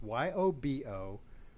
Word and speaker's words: Yobo: a company called it's YOBO. I believe it's a Korean word, I think, and it's actually pronounced Yobo.